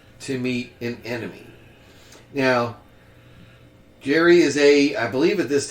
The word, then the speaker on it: Gerry: I believe that's how the name is pronounced. Probably Jerry. Jerry, I'd say.